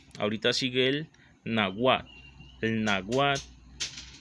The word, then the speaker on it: náhuatl: El náhuatl, con H antes de la U y TIL después de la antepenúltima sílaba, que la dice así: conocido también con el